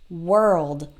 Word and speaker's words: world: anything like that it doesn't really sound like a no it sounds like a work world if you can say